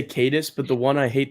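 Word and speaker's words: Caedus: Somebody said Darth Titus the other day instead of Darth Cadus.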